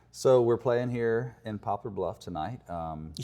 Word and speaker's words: Poplar Bluff: Well, That's how I read it in Popular Book. Yeah. People always say popular. I'm like, what's popular about it?